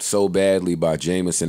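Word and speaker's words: JMSN: It's pronounced Jameson, or maybe I'm just making that up in my head, but beat was hard, record was hard.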